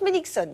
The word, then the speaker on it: Meilichzon: tête belle et bien faite elle s'appelle Dorothé melixon c'est imprononçable mais ça s'écrit M e i l i C H Z o n et ça se prononce mixon voilà elle a 31 an et elle est